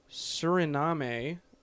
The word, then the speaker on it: Suriname: Also, Operation Red Dog inspired another coup where more clan members tried to take over the country of Suriname. Suriname.